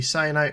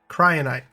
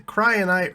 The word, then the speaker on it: cryonite: the plastic and the cyanite rod cryonite cyanite what is this stuff goodness gracious one moment so I'm so I can stop saying it wrong where is it at there it is cryonite the cryonite rods and